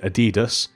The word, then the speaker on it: Adidas: mini City next up we have the mini Adidas or or you may pronounce it Adidas so we have again just this cool display